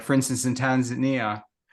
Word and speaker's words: Tanzania: But the murals are more a semi-permanent display of, the issues that are, like for instance, in Tanzania, or Tanzania, as they like to, as they call it.